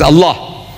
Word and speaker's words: Allah: You say Allah. I said, look, say Allah, my language. My language, I want you to pronounce as I want you to pronounce.